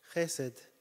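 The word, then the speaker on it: חסד: Chesed. Úgy kell mondani. That's how you're supposed to say it.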